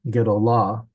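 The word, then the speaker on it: גְּדוֹלָה: Uh, but it's not pronounced with the accent at the beginning or something. Gedolah, since the accent is on the last syllable, that is not a directional hey.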